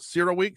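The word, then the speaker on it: CERAWeek: Tommy is where half the world is at right now at what I believe is pronounced Cera Week, CERA.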